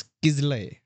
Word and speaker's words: Kizzle: रिजुल, हाँ, बिकम्स किजले, ठीक है। तो किजले की spelling should have been KIZLAYA, बट उसकी स्पेलिंग बना दी KIZZLE।